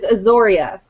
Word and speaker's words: Azoria: For the record, it is Azoria. Izzy Azoria.